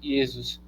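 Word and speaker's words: Ἰησοῦς: transitou o nome hebraico por yesus pronuncia-se yesus Jesus em todas as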